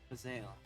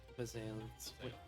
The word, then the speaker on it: Bazael: That would be Bazael, god of transmutation. Bazael. It's like basil, but Basil. It's weird how it's spelled.